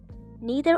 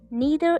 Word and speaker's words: neither: Neither is always treated as singular, so the verb must also be singular. Neither is. Some people often pronounce it like neither and neither. So both are correct.